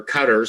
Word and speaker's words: Qataris: Emirates United Arab Emirates by the qataris or Cutters some people pronounce it uh even Untold